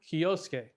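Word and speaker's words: Kyousuke: Kyoske is how you say that kid's name, by the way.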